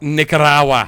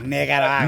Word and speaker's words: Nicaragua: it's pronounced Nicaragua. Nicaragua. Nicaragua.